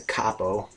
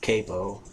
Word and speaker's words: capo: I mean, until yesterday, I was calling this a capo. It's pronounced capo.